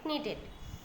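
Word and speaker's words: knitted: है तो नीटेड, okay, नीटेड। के जो है वो साउंड मतलब वो अंदर रहेगा, साइलेंट साउंड है, तो यहाँ पे साउंड क्या होगा, नीटेड।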